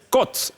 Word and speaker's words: côte: Par abus et par erreur, beaucoup de gens pensent que quand il y a l'accent circonflexe, il faut prononcer O. Non, c'est O. La preuve, on dit à l'hôtel, à l'hôpital et non à l'hôpital ou à l'hôtel.